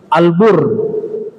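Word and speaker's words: البُرّ: kalau Marga Albar Bakti bentuk fail Albar huruf bnya panjang ya Albar orang yang berbakti Albar pendek huruf banyak daratan albir perbuatan baik albur gandum semua hurufnya sama hanya cara bacanya ada sedikit berbeda ya Nah ternyata kebajikan itu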